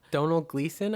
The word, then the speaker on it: Domhnall: Donald Gleason, I think is how you Yeah. say it. Donald. Donald. It's spelled very different from how it sounds, if I remember I think correctly.